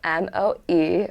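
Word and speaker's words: moe: So the next slang word we have is mo, which is spelled M-O-E.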